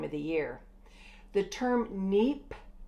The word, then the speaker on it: neap: the year the term neep tide neep is spelled neap P takes place 7